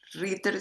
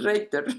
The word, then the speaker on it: Reitter: Ritter, se me viene Ritter siempre, pero es Reiter, ¿no? Es Reiter, pero bueno, se entiende. O Reiter, Reiter, si querés Reiter, sí, porque esa sería la pronunciación en alemán, pero Ritter no, no va.